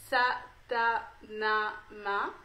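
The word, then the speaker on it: Sa Ta Na Ma: un mantra qui s'appelle qui se prononce ça t'a n'a m'a donc ça a montré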